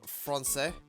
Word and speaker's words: français: Francais.